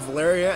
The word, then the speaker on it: Valeria: I know a girl named Valeria, and it rhymes with malaria.